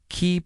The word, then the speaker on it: qi: Qi, pronounced qi, is a vital energy that flows through the body along specific pathways known as meridians.